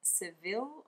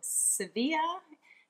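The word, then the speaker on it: Sevilla: actually bought in Spain in Seville or severe if you want to say it correctly which I'm not very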